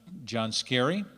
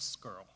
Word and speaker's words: Scarry: Groff, Scott Sheeter, Scarry, and Sarah Spencer, all for being here this evening. Mr. Johansson, may I interrupt? Sure. It's pronounced skirl.